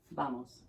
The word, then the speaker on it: vamos: They're just going to be appreciative that you're trying, but you can say vamos, like a B, vamos.